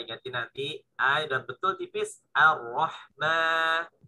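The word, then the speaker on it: الرحمن: Tinggal ma-nya dilatih juga. Ma-nya tipis. Ar-Rahman. Ar-Rahmani. Ar-Rahmani. Ar-Rahma. Bukan Ar-Rahma. Bukan mo, tapi ma. Bukan mo. Kayak suara sapi. Mo. Gitu ya. Tapi ma. Nah, tipis ya. Tipis. Ma.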